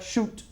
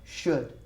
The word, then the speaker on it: should: less okay now remember it's not shoot it should but the D at the end should that's a pronunciation that